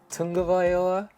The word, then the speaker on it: Tagovailoa: Apparently there's a Tagovailoa, I believe is how you correctly pronounce his name.